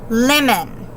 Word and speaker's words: lemon: Lemon. Lemon. Do you see how you hear the first syllable has lemon, has the accent or the stress to it?